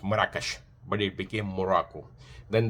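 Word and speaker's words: مراكش: Even though Morakash is a city of Al-Magar and uh is in Arabic is pronounced Morakash, but it became Morocco.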